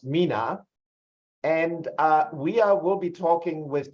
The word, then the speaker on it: MENA: And for every description that is a mouthful, we obviously need to find an abbreviation, and it's typically pronounced MENA.